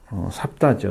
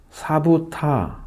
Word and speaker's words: 삽다: 그럼 셋째 아들은 삽다죠. 삽다. 사부타 사부타라고 되어 있습니다. 사부타. 삽다라고 읽기 조금 어려운 사부타라고 읽어야 맞는데, 이 사람들은 아랍인입니다.